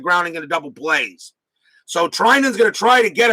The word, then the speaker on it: Treinen: It's pronounced Treinen.